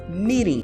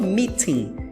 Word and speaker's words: meeting: é no inglês americano esse T do meeting no inglês americano ele é pronunciado como se fosse um leve R Então se fala meing miring no inglês britânico é que eles pronunciam de fato o t e eles falam meeting então no inglês americano fica